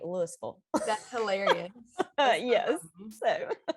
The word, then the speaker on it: Louisville: It is spelled just like Louisville, Yeah. Kentucky, but here we say Louisville.